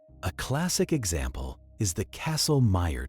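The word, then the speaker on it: Kastle-Meyer: A classic example is the castle meer test pronounced like castle and meer like myer.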